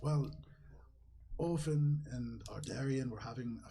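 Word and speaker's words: Ophen: But for simplicity's sake, the ambassador, Ardarian, and the husband, Ofen. O-P-H-E-N. But the dwarf kind of repeats that, and he says, well, Ofen and Ardarian were having a fantastic time watching the race that was happening.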